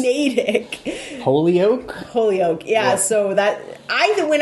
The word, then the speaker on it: Natick: Jay will say things like Natick. Natick? Yeah. It's Natick. That's how it says. Natick.